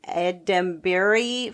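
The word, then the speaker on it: Edebiri: And Ava, I can never say her name, Edembury for The Bear.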